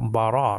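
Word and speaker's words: בָּרָא: And then the aleph is silent there. So bara means created.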